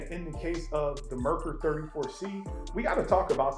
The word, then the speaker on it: Merkur: The correct pronunciation is Merkur. For some reason, at the last possible minute, I thought better of it. And instead of spending this whole video calling this company Merkur, I decided to ask Google.